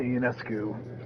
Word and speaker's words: Ionescu: they got Sabrina Ionescu, who is like the Russell Westbrook.